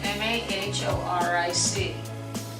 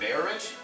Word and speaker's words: Mahoric: It's spelled M-A-H-O-R-I-C. Please say it. M-A-H-O-R-I-C? Is it Mayorich? No, men can't say it because it's Mahoric.